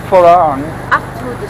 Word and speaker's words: farang: to say it, and he would say farang. He says farang all the time, but his Thai wife says belang, but.